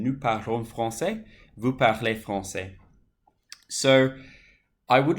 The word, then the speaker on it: parlez: Vous parlez français. EZ for vous, and it's pronounced A, parler.